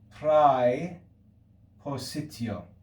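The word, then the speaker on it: praepositio: the diphthong a diphthong in classical latin we would say prai positio in church latin we say frey and this is the english preposition that's easy enough you can see that that diphthong we pronounce it pre in church latin becomes e in english pre position okay that's the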